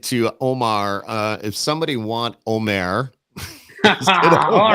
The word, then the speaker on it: Omer: It's Omer.